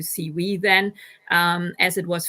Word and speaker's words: CEWE: so CW and um pronouncing it in German you would come to C we then um as it